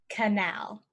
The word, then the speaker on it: canal: water can pass through so to remember it use this sentence can al Bert help us navigate the canal can Albert help us